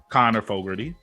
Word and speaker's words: Connor Fogarty: So joining us today on this brand new episode is professional voice actor Connor Fogarty. I said it right, correct? You did.